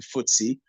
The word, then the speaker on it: FTSE: F we also have the ftse which is pronounced as the footy uh index which strikes